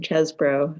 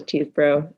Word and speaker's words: Chesbro: my name is uh chesbro uh often uh mispronounced as teeth bro and you can imagine